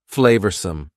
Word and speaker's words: flavorsome: make beans on toast next number 10 is flavorsome flavorsome means delicious and full of flavor notice the pronunciation two schah sounds there flavorsome the sauce proved incredibly flavorsome transforming the mundane